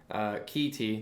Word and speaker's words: KiKi Tea: still sponsored by Kate Kiki tea okay kee tea that's how it's pronounced but we just haven't